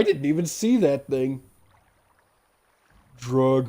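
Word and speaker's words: Dreugh: It was just hiding in the dray. I didn't even see that thing. Drug rhymes with grug. Yeah. Dray, drew, drug, drag.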